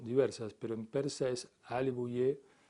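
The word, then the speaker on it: Āl-e Buyeh: Por ejemplo, en el gobierno de Ali Bouyeh, o al-Bouye, las pronunciaciones son diversas, pero en persa es Ali Bouyeh, y Ali viene de la familia, Bouyeh es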